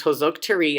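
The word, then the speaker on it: Hősök tere: junior wash you heroes square pronounced hose oak tree and hungarian is one of the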